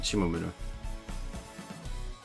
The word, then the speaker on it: Shimomura: Okay, I was right in pronunciation. Shimomura.